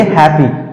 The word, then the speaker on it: happy: उसी तरह से HAPPY, इसको सही तरीके से पढ़ेंगे हैप्पी, हैप्पी, हैप्पी। Double P होने के बावजूद भी हम इसे जो है सिंगल में उच्चारण करेंगे।